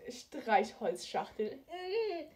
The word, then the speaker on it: Streichholzschachtel: It's pronounced Streichholzschachtel.